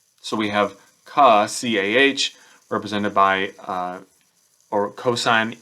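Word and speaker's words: CAH: Now, if we do that for all of these, then the next word you can use would be ka. Again, it's not a real word, but it's spelled as C-A-H.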